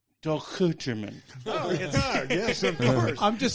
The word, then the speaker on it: Dochterman: It's Duchan.